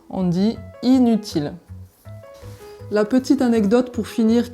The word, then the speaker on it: inutile: avec une derrière donc on ne dit pas un utile on dit inutile la petite anecdote pour finir qui va peut